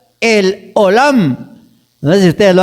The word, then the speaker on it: El Olam: Y hay un nombre de Dios que se pronuncia el Olam.